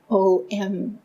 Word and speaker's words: Om: The Om is a trinity, but sometimes pronounced as O-M, Om.